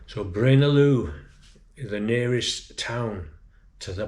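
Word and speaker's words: Braine-l'Alleud: been trying to say brain alude brain alude but it's brain Aloo you don't pronounce the d so Brin Aloo the nearest town to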